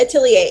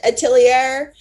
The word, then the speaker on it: atelier: today is which hat atelier or you can pronounce it atelier tell me how you pronounce it because i've seen both ways and um i think